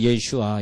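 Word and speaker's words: ישוע: 또 정확한 발음이 되고 혹시 히브리어로 공부하실 분이면 예슈아 이렇게 꼭 하시기 바라고요 아 아를 꼭 붙이셔야 돼 그것이 예수님입니다 자 우리는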